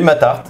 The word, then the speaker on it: Matarte: Faut prononcer le thé à la fin. Oui, Matarte, c'est l'art dire mais bon c'est Matart, l'art des maths.